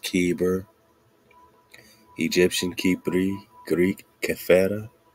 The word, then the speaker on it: Heber: spellings Afghan kyber kver Hebrew Heber pronounced keber Egyptian Ki Greek CFA